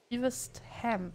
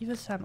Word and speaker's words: Evesham: Zwischen Chesterfield und Evesham, glaube ich, wird das ausgesprochen. Chesterfield und Evesham, also das hier.